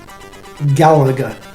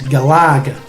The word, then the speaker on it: Galaga: and it is gallagher gallagher now on the last game and they did say the correct pronunciation is galaga as you know lager as in the beer but i've always said